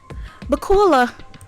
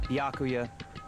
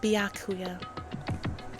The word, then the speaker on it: Byakuya: Ah, bakula. It's Byakuya. Byakuya.